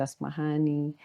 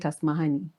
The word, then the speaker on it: Asmahaney: Some people call it Asmahan, some people Asmahani. So it's when... How do you call it? I call it Asmahaney. There's like a sharp honey. I accentuate the honey.